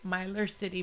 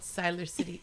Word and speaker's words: Siler City: where I live and it starts with the letter S and it rhymes with miler. It's I will say Miler City, but it's called Siler City.